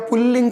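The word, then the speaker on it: पुंलिंग: तो इसको हम लोग पुंगलिंग कहें या पुल्लिंग कहें, मतलब बिंदी, नेज़ल साउंड, जो नासिक की ध्वनि है उसका उच्चारण करें कि न करें, दोनों स्थिति के अंदर ये हम बोलचाल में काम में ले सकते हैं। लेकिन अगर शब्द शुद्धि की बात आ जाएगी तो पुंगलिंग आपको अनुस्वार के साथ में या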